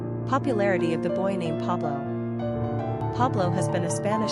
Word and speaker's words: Pablo: Popularity of the boy named Pablo Pablo has been a Spanish staple in America.